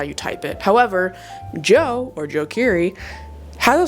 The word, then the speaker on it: DJO: songs on here for is DJO, otherwise known as Joe. I call them DJO cuz I know people who actually have the name of Joe. So for his name is Joe, though. I should pronounce it that way.